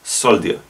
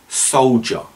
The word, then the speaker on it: soldier: i do hear it this is soldier when in fact it should be soldier for example we need